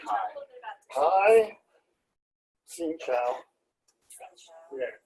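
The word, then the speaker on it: xin chào: Xin Chao. Yeah. X-I-N-C-H-O. Yeah. But it's very tonal.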